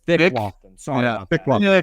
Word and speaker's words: Loftin: So I think we're mispronouncing his name. Can you guys tell me what his name is? It's Nick Loftin. Sorry about Nick that. Loftin. That's Loftin.